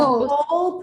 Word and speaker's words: whole: Because I have here the word, how do I pronounce this one? Whole, right? Yes, whole. The whole presentation, yes, the whole presentation was in English.